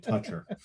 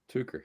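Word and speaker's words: Tucher: Oh, I'm glad that we're all saying it right, not calling it Toucher. Tucker, yeah.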